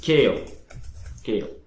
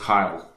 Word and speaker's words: Kyle: And as you can see, now it's only going to print So print case, we'll say our name is Kale. Well, Kyle, I mean it's pronounced Kyle.